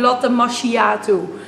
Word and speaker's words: macchiato: En geen latte macchiato.